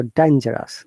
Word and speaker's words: dangerous: So dangerous. This G is soft G, like Z sound.